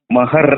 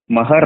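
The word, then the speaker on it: महार: ಅದರ ಹೆಸರು ಇನ್ನೊಂದು ಹೇಳಬೇಕಾದರೆ ಮಹರ್ ಅಂತಾರೆ ಮಹರ್ ಎಂ ಎಚ್ ಎ ಆರ್ ಹಂಗೆ ಬೆಂಗಳೂರಿಗೆ ಬಂದು ಇಂಗ್ಲಿಷನ್ನ ಉಚ್ಚಾರ ಮಾಡಿ ಗ್ರಂಥಗಳನ್ನು ಬರೆದುಬಿಟ್ರು ಆದರೆ ಅದು ಈ ಕಡೆ ಮಹಾರಾಷ್ಟ್ರದೊಳಗೆ ಮರಾಠಿ ಒಳಗ ಮಹರ್ ಅಲ್ಲ ಮಹಾರ ಮಹಾರ ಅಂದ್ರೆ ಇಂಗ್ಲಿಷ್ನಿಂದ ಅನುವಾದ ಮಾಡುವುದು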